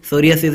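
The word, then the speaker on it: psoriasis: तो ये world सोरियासिस डे, सोरियासिस यहाँ पे पी जो है साइलेंट है, सोरियासिस डे 29 अक्टूबर को ऑब्जर्व किया जाता है।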